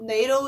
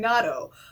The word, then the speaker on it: Nado: There's two common pronunciations. I've been told NATO is the official one when I like spoke to Alpha directly, but I'm probably going to use both interchangeably because I'm used to saying Natto.